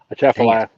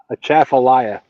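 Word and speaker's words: Atchafalaya: A chaffalia. Say it again. A chaffallayia.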